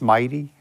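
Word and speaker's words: MITEI: statement for Mighty uh mid-e-i we pronounce Mighty uh Ernie and I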